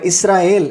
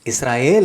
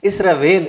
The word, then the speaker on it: இஸ்ரயேல்: ஆனா தமிழ்ல மொழிபெயர்க்கப்பட்ட போது இஸ்ராயேல் என்ற வார்த்தை முற்றிலுமாக மாறி இஸ்ரவேல் என்று உச்சரிக்கப்படுகிறது. இங்கே ஒரு சிறிய மொழியியல் கவனிப்பு தேவைப்படுகிறது. எல் என்ற இறுதி பகுதி தேவனுடைய நாமம், அது வேல் என்று மாறும்போது அதன் மூலம் வந்த உண்மையான எபிரேய அர்த்தம் மறைந்து விடுகிறது.